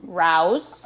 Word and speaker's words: Rao's: Rao's. I'm glad you can pronounce it correctly.